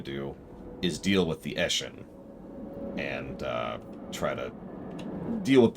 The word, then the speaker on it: Eshin: The Blessed Dread have spread all frickin' over the place, and all of these are Itchin, or however you say his name, this guy. Eshin, excuse me, Eshin.